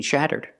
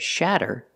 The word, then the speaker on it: shatter: have to replace it so remember these three words shutter and shutter are pronounced the same but shatter makes a different sound because the vowel is a short ah sound again shutter shutter and